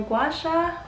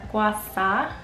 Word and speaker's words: gua sha: gua sha is so gua sha or gwasa it can be pronounced either way depending on the region or the dialect gua sha is basically